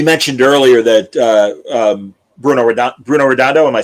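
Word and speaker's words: Bruno Redondo: We mentioned earlier that uh um Bruno Roondo.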